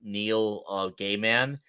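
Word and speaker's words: Neil Gaiman: the word is austr his name is pronounced Neil gayman so that means in other words you you could pronounce his name as K NE L and then g a y hyphen Man Neil gayman Neil gay man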